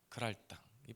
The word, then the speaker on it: 그랄: 지역에 있는 그랄 땅이에요 그랄땅이 발음 잘해야 됩니다 그랄 랄 에스 랄 그랄 지역에 거주합니다 그런데